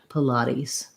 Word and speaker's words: Pilates: And then we make that T into a flap, sounds a little bit more like a D. And then the final S says a Z sound, Pilates.